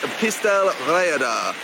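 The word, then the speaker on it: Pistyll Rhaeadr: the welsh language but i believe you pronounce this pistel reader apparently is the tallest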